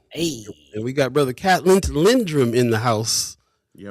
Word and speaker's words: Catlindt: It's Catlindt. The D and the T is silent.